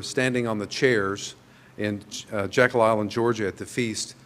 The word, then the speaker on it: Jekyll: Jekyll Island, Georgia, or my wife likes to point out when I say it really quickly, I say it like we always said it. It wasn't Jekyll Island, it was Jackal. It was Jekyll Island, Georgia.